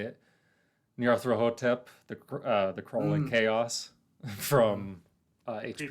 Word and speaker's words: Nyarlathotep: Nyarlathotep, the crawling chaos from H.P. Creeping Lovecraft chaos. lore. Mm-hmm. Nyarlathotep. Oh yeah, that's how you pronounce it.